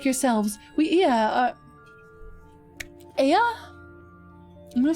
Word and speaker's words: Ea: When the vibration of vocal folds was still required to convey our thoughts and intentions, Ea I believe, was the pronunciation used when referring to our people.